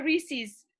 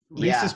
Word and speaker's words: Reese's: like it that's Bob Reese's Pieces not Reese's Pieces that's from the east coast a lot of different Reese's pcs yeah it's supposed to rhyme with pieces my only like I